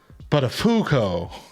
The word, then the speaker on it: Buttafuoco: His boss says, it's pronounced Buttafuoco.